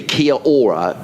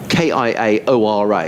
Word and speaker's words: kia ora: in touch uh uh kiora guy so presumably kia ora k-i-a-o-r-a is some sort of a greeting in in